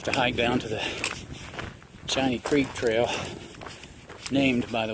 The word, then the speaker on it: Shinny: Shiny, by the way, is spelled S-H-I-N-N-Y. Yeah, I know, it looks like shinny.